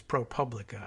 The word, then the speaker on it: ProPublica: ProPublica this week and I'm gonna change my pronunciation to the more anglicize ProPublica I think Solomon repeatedly